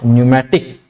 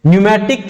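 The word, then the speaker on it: pneumatic: ये word important याद रखना, कौन सा, न्यूमैटिक, PNEU, P silent, न्यूमैटिक cavity, air cavities.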